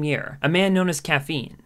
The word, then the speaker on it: Quaffine: a man known as caffeine it's actually supposed to be caffeine the q is silent because i freestyle very